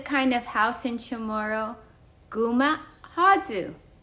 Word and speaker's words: guma' håiyu: We call this kind of house in Chamorro Guma Hadzu. Guma Hadzu. Wooden house. Pina and friends, can you say Guma Hadzu? Guma Hadzu.